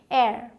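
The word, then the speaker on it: heir: अगला है जो कि मैंने आपको शुरू में ही बता दिया, इसे आप एच साइलेंट रख के बोलते हैं। इसे हेयर बोलते हैं लोग, लेकिन क्या बोलना है, एयर।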